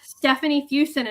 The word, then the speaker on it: Stefany Fuson: So, it's Stephanie Fusen and it's spelled um I'm gonna spell it out for you. It's spelled I guess kind of like it sounds suso and that's on Tik Tok, um Instagram, Facebook, YouTube, anywhere.